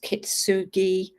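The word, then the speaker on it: kintsugi: Japanese um art form I think it's pronounced kitsugi and it's where they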